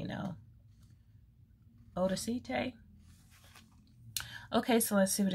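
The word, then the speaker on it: Odacité: very fancy schmancy but i think that's pronounced odacite you guys let me know odacite okay so let's see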